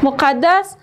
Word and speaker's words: مقدس: مقدس. م او ق د آ س مقدس م او ق د د آ س. دو دفعه دالیجا تلفظ میشه به خاطر که شاد وجود داره.